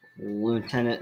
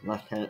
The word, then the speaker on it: lieutenant: at or back to lieutenant sanish or leftenant sanish I know people pronounce that word differently welcome back young wizard